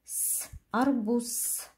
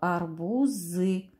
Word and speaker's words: арбуз: этот звук гласный ударный следующая буква буква з а звук которой оно обозначает в этом слове арбуз то есть находится в слабой позиции нужно проверять этот звук согласный звук глухой мы характеризуем звуки звук